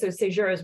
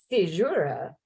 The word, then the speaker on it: caesura: And so Caesura's work in a couple ways.